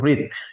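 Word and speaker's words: wreath: है हमारे पास में इसको हम बोलते हैं रिथ क्या बोल देते हैं रीत बोल देते हैं थोड़ा स्पेलिंग पर ध्यान लगाएगा डब्ल्यू आर ई ए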